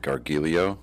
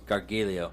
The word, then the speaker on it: Gargiulo: How do you pronounce it? Gargiulo. Gargiulo, and we're going to stick with that through this whole thing.